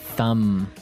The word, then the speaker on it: thumb: No, I actually only pronounce the M.